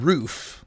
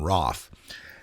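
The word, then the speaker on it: Roof: is his name and everyone's calling him Dylan rof but if you've looked at some of the news reports a little deeper you'll see that they've indicated that it rhymes with cough so his name is Dylan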